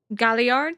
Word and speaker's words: Galliard: Galliard? Sorry. 助かったよ。 That's okay, that's how you say it.